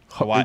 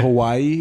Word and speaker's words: Hawaii: There are a lot of people from Hawaii, and that's how they pronounce it. Hawaii. They do. What? Hawaii. It's not Hawaii. It's Hawaii.